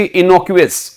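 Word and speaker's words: innocuous: और इस वर्ड को बोला जाता है जी इनोक्यूअस. क्या?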